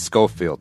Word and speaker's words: Schofield: bad and I apologize I mispronounced your last name at the top but it's Scofield right yeah yeah and I